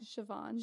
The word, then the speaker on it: Siobhan: Ali Beardsley Zach oyama and then ciabon right Siobhan so Jesus Christ you would think with as